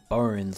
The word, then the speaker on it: Bonz: going to learn how to beat Necromancer AKA bones or bonds as it's spelled in three turns and of course if